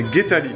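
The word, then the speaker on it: Geethali: Et son premier prénom, c'est Guetali. Guetali, donc ça s'écrit G-E-E-T-H-A-L-I.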